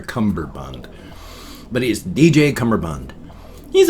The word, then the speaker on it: Cummerbund: DJ cumberbund or cummerbund it's spelled cummerbund but when I hear him say it it sounds like he's got a bee in there for cumberbund but he's DJ cummerbund